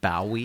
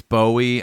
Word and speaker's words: Bowie: see if it does is there a reason you pronounce it bwii I just never remember how to say it and it's Bowie and I don't know why